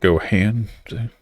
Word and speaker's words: Gohan: did it too it's actually trunks you can go hand yes but it's pronounced Gohan yeah it's Goku's son and Vegeta's